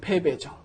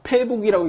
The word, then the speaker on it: 패배: 패배죠. 요 단어, 패북이라고 읽지 않도록 조심하십시오.